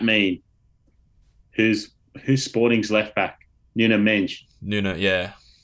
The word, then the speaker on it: Nuno Mendes: Nuno Mendes. Nuno, yeah. Nuno Mendes. Credit to FC Wonder Kid for that pronunciation.